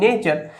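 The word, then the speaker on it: nature: আমি বলে দিয়েছি একচুয়ালি যখন কোন শব্দের শেষে টি ইউ আর ই আসে সেই ক্ষেত্রে তার উচ্চারণটা চার এরকম টাইপের হয় ঠিক আছে তো ন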